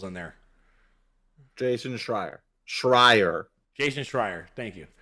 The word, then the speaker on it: Schreier: I can't ever pronounce his name, brother. Shire. Really? That's a lot of syllables in there. Jason Schreier.